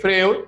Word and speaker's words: Freud: s Freud o sea Sigmund se escribe Freud no pero se pronuncia Freud sí o no cicatriz